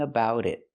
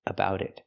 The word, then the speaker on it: about: Pronunciation, we hear the T in about pronounced as a fast D. Going about it, about it.